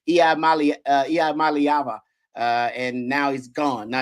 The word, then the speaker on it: Iamaleava: I just learned how to pronounce his name, Iamaleava.